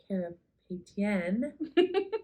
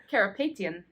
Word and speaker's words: Karapetian: So, and for our Thursday night performance this week, we are really excited to have Henrik Karapetian. Nope. How do you say it? Karapetian.